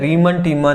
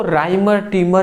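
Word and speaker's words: Reimer–Tiemann: अगला हमारा क्वेश्चन है रिमन टिमन अभिक्रिया। बताइए ये इंपॉर्टेंट है। इसको राइमर टिमर अभिक्रिया भी कहते हैं। किसी किसी बुक में रिमन टिमन अभिक्रिया का है। प्रोनाउंसिएशन का केवल डिफरेंट है।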